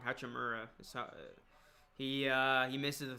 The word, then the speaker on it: Hachimura: three he's short here's hachimurya i think he's gonna be really good rui i think he's got a very bright future ahead of him i said it wrong hachimura he uh he misses